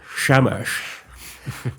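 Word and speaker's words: Shamash: I do like the idea that the sun god Shamesh, you have to say it like Sean Connery. Shamesh.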